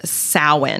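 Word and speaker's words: Samhain: as this festival called sa which is not at all um like spelled out like it sounds yeah it's spelled like Sam pain yeah the the Irish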